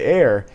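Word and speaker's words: Ayr: The nearest community which has restaurant options is Eyre, Ontario. Named after a town in Scotland, Eyre is spelled A-Y-R.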